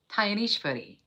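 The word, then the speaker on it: Dnyaneshwari: Now I'm saying a word called Tyanishvari. It is spelled D-N-Y-A-N-E-S-H-W-A-R-I.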